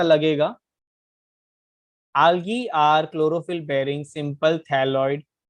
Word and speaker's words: algae: Algae. आलगे। Saumya, what do यू, हाउ डू you pronounce it? Algae only. Algae, okay. By the way, algae is slightly incorrect. It is called algae, ठीक है।